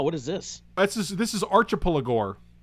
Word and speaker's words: Archipelagor: This is Archipelagor. Archipelagor. It's like an Archipelago. It's an Archipelago with gore.